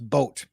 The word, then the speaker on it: Boot: Boot is pronounced boat.